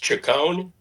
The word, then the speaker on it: Chacon: It's pronounced Chacon, Right.